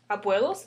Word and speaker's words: abuelos: Abuelos. Second to the last, 1, 2. That's why we say abuelos.